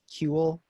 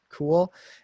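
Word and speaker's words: CeWL: on cali are cool and crunch cool not pronounced cule but cool and crunch just crunch i'll show you guys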